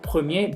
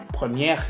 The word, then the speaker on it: premier: Si se fijan, en ninguna de ellas yo pronuncié la R. Y generalmente también me las pronuncian. Entonces, por favor, tampoco me los vayan a pronunciar. Y infirmier, policier, premier, boulanger. No infirmière, policière, première y boulanger. Incluso si las pronuncian las R's, es como si estuvieran hablando en femenino.